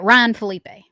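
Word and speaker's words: Ryan Phillippe: I think last year I was saying his name wrong and Tiffany had to text me. Yeah, Ryan Felipe.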